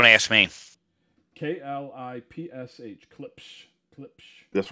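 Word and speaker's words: Klipsch: How do you pronounce that again? Clipsage? Clips. Clips. What do you ask me? K-L-I-P-S-H. Clips.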